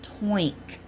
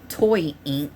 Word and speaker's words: Toynk: but it is pronounced toink. Okay, not toy ink but toink like oink.